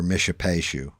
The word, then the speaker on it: Mishipeshu: Mishipeshu is how it's pronounced. Mishipeshu. Or Mishipeshu or Mishipeshu.